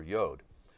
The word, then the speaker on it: yod: we know it as the yud or yod, depending on how you pronounce it. It's going to be the 10th letter, and that's actually the letter that Yeshua begins with, the yud or yod.